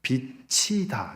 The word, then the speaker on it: 빛이다: 뒤에 이응이 붙으면 빛이다. 이렇게 돼요. 빛이다. 나는 세상에 빛이다. 치유 발음이 뒤로 가서 근데 지으시면 빛이다. 이렇게 발음이 되지 않고 빚지다 이렇게 발음이 되는 것이죠.